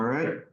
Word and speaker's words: BEBE Flight: All right.